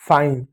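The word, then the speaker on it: fine: किसी भी शब्द के अंत में ई आता है तो अधिकांश शब्दों में वो साइलेंट होता है। आपका क्या हो गया, आपका बन गया फाइन।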